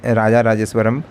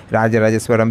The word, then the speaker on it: राजा राजेश्वरण: तमिलनाडु तो वो राज राजा राजेश्वरण मंदिर के बारे में जानते होंगे शॉर्ट में इसको आप राज राजेश्वरण भी कह देते हैं तो इसका सही नाम है इसका सही उच्चारण है राजा राजेश्वरण और यह एक हिंदू